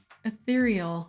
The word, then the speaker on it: ethereal: then I'm like oh it's ethereal like a cereal maybe think of like